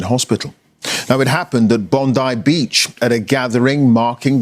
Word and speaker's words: Bondi: The pronunciation of the beach is Bondai Beach, not Bondi Beach as I thought, but here we go. The correction. Bondai Beach in Australia.